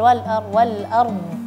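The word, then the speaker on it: الأرض: Memang kalau ada dua huruf sukun bergandeng, apalagi ketika waqaf, itu agak sulit memperjelaskan huruf terakhir. Tapi hak huruf harus tetap diucapkan. Ya, harus diperjelaskan. Apalagi kan dad kan tebal wal ard.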